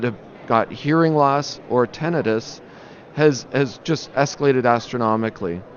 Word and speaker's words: tinnitus: that just doesn't stop is it tinnitus or tinnitus you know and that's a good question because I think that the actual pronunciation is tentative but almost universally people pronounce it as tinnitus right so we use